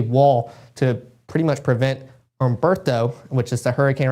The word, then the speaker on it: Humberto: to pretty much prevent Humberto, which is the hurricane right now. Still learning on pronouncing it the right way. I think the H is silent.